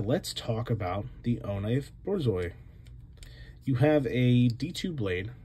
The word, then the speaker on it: Borzoi: B-O-R-Z-O-I, Borzoi.